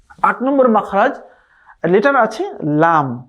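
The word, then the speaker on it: لام: জিহবার আঘার কিনেকে সাম্যের উপরের দাঁতের মাটির সঙ্গে লাগাতে হবে। যেমন লাম লাম জিহবার আগার কিনারা জিহবার আগার যে এই যে ইয়াটা আছে জায়গাটা আছে এটাকে সামনে উপরের দাঁতের মাড়ির সঙ্গে লাগাবেন কেমন লাম লাম লাম এভাবে করে লামের পারফেক্ট উচ্চারণ করতে হবে নয় নাম্বার মাখরাজি দেখতে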